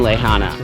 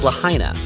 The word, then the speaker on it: Lahaina: we're hitting up front street which is in lehana well actually it's pronounced lahaina but at that point of our trip my